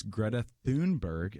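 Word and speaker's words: Greta Thunberg: pronounce it and so it's Greta Thune Berg as best as I can understand and so she has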